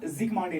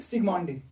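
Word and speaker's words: Zsigmondy: ये टर्म दिया ज़िगमांडी ने। जड करो साइलेंट, फिर बनेगा फिर सिग्मांडी।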